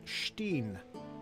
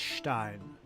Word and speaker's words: Stein: I had a professor in collage who pronounced it Steen, so I figured that was the correct way. And I was wrong all up until that time. Well, if it's E-I, it's Stein.